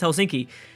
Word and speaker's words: Helsinki: Yes, I think I learned the pronunciation of that. I believe it's Helsinki.